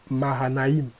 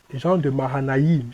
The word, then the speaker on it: Mahanaïm: Mahanaïm. Il y a Ma, il y a Ha, il y a Naïm. Donc, le I avec 2 points là. C'est I. On le prononce Iim. Jean de Mahanaïm.